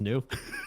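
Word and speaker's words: gnu: the new new just new well the g is silent when it's next to to an end there the new was dancing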